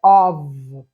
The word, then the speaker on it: of: In front of, a pronúncia é of, tá? Com som de in front of. O som de V, mas é F.